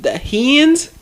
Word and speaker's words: Heinz: The 57 on the ketchup bottle, and it's I don't know how to pronounce it. It's Heinz.